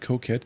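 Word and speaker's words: coquette: It's just coette. It's like c o q u e t e and you give me two syllables with five letters.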